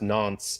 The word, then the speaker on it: Nantes: played against you know it's pronounced nonce in french but i don't know